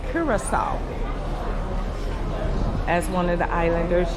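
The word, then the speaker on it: Curaçao: And it's pronounced Curacao. As one of the islanders just told me, Curacao.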